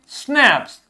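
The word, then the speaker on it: schnapps: We have स्नैप्स, इसको ध्यान से पढ़िए, स्नैप्स क्या पढ़ेंगे, SHNAPPS।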